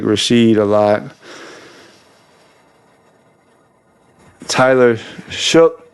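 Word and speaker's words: Tyler Shough: Tyler Shook is how you say his name.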